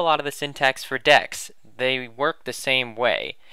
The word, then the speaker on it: deque: it you spell it like this and it's pronounced decks not dick way or something I don't know but yeah it